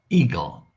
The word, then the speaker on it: eagle: uh I don't know Eagle Eagle and remember eagle has a silent a and a silent E Eagle no a no